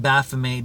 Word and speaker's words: Baphomet: And I pronounce it Baphomet because I'm Canadian, and I think that the French pronunciation makes the most sense.